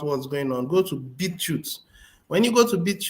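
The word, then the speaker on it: BitChute: going on go to beetroot when you go to beat you to find out more videos is spelled as b i t c h u t e that's beetroot you go there and then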